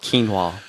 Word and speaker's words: quinoa: canola muffins and you can't because they're called quinoa and then they make little cauliflower that's like